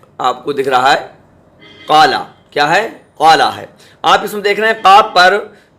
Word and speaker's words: قال: آپ دھیان رکھیں کہ قاف جو ہے حروف مستعلیہ ہے، منہ بھر کے پڑھا جاتا ہے۔ اب ہم قالا ہی کو لے رہے ہیں، قالا کی ہجے کیسے ہوں گی؟ تو یہ دیکھیے، قاف، قاف الف زبر قا، قاف الف زبر قا، لام زبر لا، تو یہ پڑھا جائے قال، قال، اسے تو کھینچا جائے گا کیونکہ یہ حرف مد